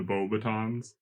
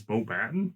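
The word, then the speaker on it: Beauxbatons: I was kind of wondering cuz So, it's a blue carriage with the Bobbitons. Yeah. Batton. It's Bo Batton.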